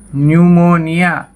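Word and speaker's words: pneumonia: बहुत समझ सकते हैं जहां पर पी नहीं बोला जाता पीस साइलेंट रहता है जैसे निमोनियां न्यूमोनिया कि यह बीमारी होती है निमोनिया की है है तो इसमें आप इस आयरलैंड है यहां से बोला जा रहा है न्यूमोनिया इसी तरह साइकोलोजी कि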